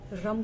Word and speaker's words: रम: मणिपुर चक्र पर काम करने के लिए हमें रम का उच्चारण करना होता है। र पे अम की मात्रा रम।